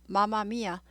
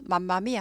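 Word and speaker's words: Mamma Mia: mm 붙으면 m 하나 발음이 납니다. 마마미아. 그래서 아바의 노래도 있잖아요. 마마미아 이런 노래 있죠. 맘마미아 하지 않아요.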